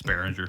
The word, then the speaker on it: Beringer: How do you pronounce that? Beringer. Yeah, that's good enough. Beringer. Yep. It's Beringer.